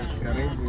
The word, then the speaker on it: karibu: Karibu. That's how you say it, right? Karibu, yes.